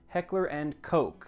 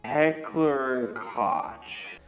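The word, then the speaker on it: Heckler & Koch: in the comments again it's pronounced Heckler and Coke not however I so confidently said it last time Heckler and cotch but from now on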